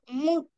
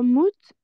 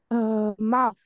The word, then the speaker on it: mouth: Non, c'est pas mouth, c'est bien, hein, c'est correct le mot, mais il faut juste le prononcer. Mouth. Le TH, c'est mouth. On met la langue entre les Mouth. dents. Voilà, mouth.